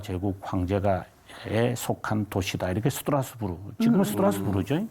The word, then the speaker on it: 스트라스부르: 이렇게 스트라스부르. 지금은 스트라스부르죠. 네. 당시에는 네. 스트라스부르, 독일 발음은 스트라스부르크라고 합니다.